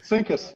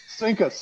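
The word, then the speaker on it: CINCUS: Do it one more time. Sinkus. Sinkus. C I N C us. Sinkus.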